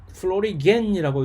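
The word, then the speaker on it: florigen: 많은 식물의 그 생리학자들이 여기에 대해서 항상 이 신비로운 이것을 결정하는 어떤 특별한 물질이 있었을 것이다 해서 이 플로리겐이라고 이제 독일어 방식의 발음 방식을 이제 채택을 해서 플로리겐이라고 꽃을 만드는 어떤 특정한 물질이 있을 것이다.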